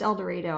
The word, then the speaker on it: El Dorado: an El Dorado Kansas it's pronounced El Dorado I'm not saying it wrong yes they didn't say El Dorado it's not El Dorados yes it's like Cairo Missouri yes it spelled like Cairo Nevada yeah El Dorado Kansas